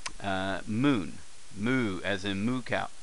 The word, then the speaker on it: む: book uh let's start off first here's the pronunciation in ragi M uh Moon moo as in moo cal um Moon moo